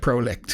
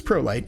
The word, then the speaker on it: Prolycht: It's spelt strangely. It's PROLYCHT, which I guess is German for light, is what I've heard. But it looks like Prolicht is what it looks like, but it's Pro Light, and it's called the